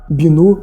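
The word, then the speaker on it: Binot: Seu nome era Binô Palmier.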